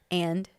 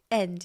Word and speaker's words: and: So it's just like end. You always say, it's like END. You say it like END, end. Like this is the end of the show. And you know what? When I say end of the show, I can say end, but I also don't say it properly.